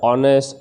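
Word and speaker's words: honest: यहाँ पर एच जो है फ्रेंड्स वो साइलेंट है, मतलब इसका साउंड है ना एच से नहीं निकलता, साउंड जो है वो अ से निकलता है। अवर, एयर, ऑनेस्ट, ऑनरेबल, ये सब।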